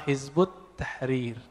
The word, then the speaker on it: Hizbut Tahrir: waktu ini dengan nama Hizbut Tahrir dalam bahasa Arab Kalau ditulis versi transpirasinya head at-tahrir ya tapi kebaca Hizbut Tahrir cara bacanya begitu nulisnya kalau Dik di